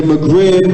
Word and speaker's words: Maghreb: Now, the area that I'm about to speak about is called the Maghreb. It's spelled M-A-G-H-R-E-B, or other people spell it in M-A-G-H-R-I-B, okay? And the Maghreb or Maghreb is the name given in pre-modern